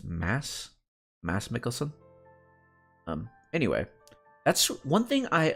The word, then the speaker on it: Mads Mikkelsen: That reminds me of Mads Mikkelsen, his name is actually pronounced Mads Mikkelsen.